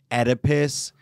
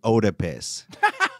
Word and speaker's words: Oedipus: throw in words like oedipus because she would pronounce it like otipus well she was not